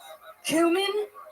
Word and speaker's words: cumin: you use saffron for cumin spelled like cuming c u m i n it's confusing all right Crush Fest all